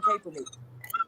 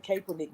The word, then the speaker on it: Kaepernick: a picture of Colin Kaepernick. Is that how you say his name, Kaepernick? Colin Kaepernick, yeah.